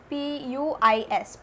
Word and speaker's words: puis: Puis means then, okay, P-U-I-S, puis means then, it's pronounced as puis, okay.